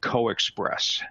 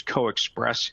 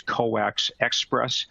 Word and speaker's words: CoaXPress: put it together and you end up with coexpress so i'm pronouncing it as co-express sometimes you'll hear people pronounce it as coax express but the preferred pronunciation normally is coexpress as